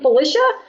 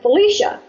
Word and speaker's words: Felicia: little while to figure it out so I pronounce my name Felicia but almost everyone pronounces it Felicia and it really doesn't bother me either way